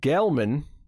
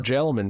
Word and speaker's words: Gelman: Brett Gelman or Gelman. I don't know if it's a soft G or a hard G actually. 1 L or 2? 1 L. Soft.